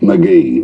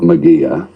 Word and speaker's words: McGee: the mallee we have how do you say mcgee mcgee not mcgear mcgee wanker of course